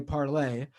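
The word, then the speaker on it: Parler: of this yet but parlor AKA parlay is French for to talk pronounced parlay uh it's ironic that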